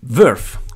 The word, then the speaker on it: Vearth: La lettura in katakana invece ti indica il modo in cui deve essere pronunciato, ovvero Vasu, dove Asu non è altro che la traslitterazione in katakana della parola inglese Earth, da qui Verth, quindi V più Asu, ovvero il pianeta Terra